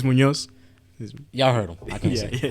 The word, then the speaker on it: Muñoz: I don't know how to say It's Muñoz.